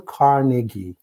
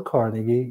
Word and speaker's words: Carnegie: It's pronounced Dale Carnegie.